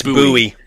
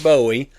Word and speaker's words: Bowie: And they pronounce it buoy. They don't pronounce it Bowie.